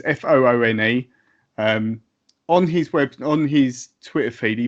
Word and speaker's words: Foone: Twitter, which I think his name's pronounced Foon. It's Foone.